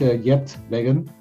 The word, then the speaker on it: Geert Weggen: us where you're from my name is yet Megan I pronounce it in the English way I'm from Dutch from